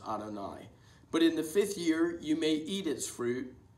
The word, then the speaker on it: Adonai: It's frequently pronounced as Adonai.